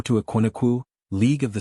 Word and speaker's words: Ekumeku: O to Aquinuku, League of the Silent Ones. British tongues mispronounced it as a kumiku.